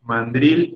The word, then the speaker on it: mandril: son mis estimados alumnos mandril es una palabra aguda bueno en realidad escuché a algunos que dijeron este proporciona más graves pero sí escuché dos que dijeron a reuters aunque sorprenda es que también es una palabra a la que no están muy familiarizados no la pronuncian tanto y genera confusión pero en realidad mandril tiene la sílaba fuerte en la última drilling se debe pronunciar